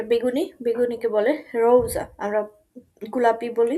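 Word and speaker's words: gelb: দেন yellow, যেটা হলুদ, সেই হলুদ কালারকে বলে গেল্প, গেল্প, গেল্প। আমরা পড়েছিলাম যুক্ত বর্ণে যে আমার শেষে যদি বে থাকে তাহলে এটার উচ্চারণটা বের মতো হবে।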